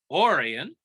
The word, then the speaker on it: Orion: the confederacy twain's brother orion pronounced orion was a sympathizer for